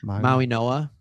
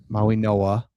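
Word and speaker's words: Mauigoa: Maui Noah. Maui Noah. Yeah, that that there's a it's it's said the G sounds like an N which totally makes sense.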